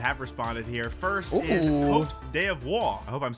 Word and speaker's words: Côte d'Ivoire: Also sent uh I learned it's pronounced Côte d'Ivoire, by the way, not Côte d' Just say Ivory Coast, bro.